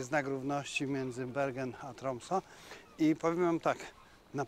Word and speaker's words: Tromsø: Tak, po dwóch godzinach umiem wymawiać nazwę miasta. Tromso.